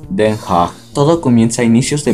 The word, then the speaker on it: Den Haag: Nuestra historia comienza en la tercera ciudad más grande de los Países Bajos, después de Ámsterdam y Rotterdam, La Haya, o como se pronuncia en neerlandés, Den Haag.